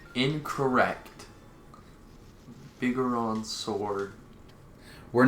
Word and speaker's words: Bigoron: Like you calling it the big Goron sword? Well, you see, no one's gonna get triggered by that, because that's the correct pronunciation. Incorrect. Bigoron sword.